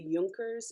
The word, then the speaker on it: Junker: the 18th century um the Yonkers in Prussia are the and it's spelled like junkers uh j-u-n I'm going to